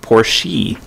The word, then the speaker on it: Porsche: would pronounce it, like native Germans would pronounce it Porsche, you know, with an E on the ends.